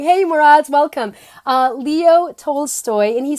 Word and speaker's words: Leo Tolstoy: to share with you so one is by Lee Roy told Tolstoy look if you say it leo oh my god I've seen the name wrong hey Murad's welcome leo tolstoy and he says the two most most powerful